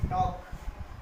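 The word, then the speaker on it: talk: जैसे कि टॉक, टॉक, ए के बाद एल आया।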